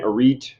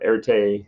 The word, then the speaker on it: Arete: Odysseus, Queen Arete or Arete, however you want to pronounce her name.